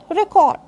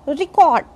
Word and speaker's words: record: If I say record, then it is noun or adjective. But if I say record, then this is verb.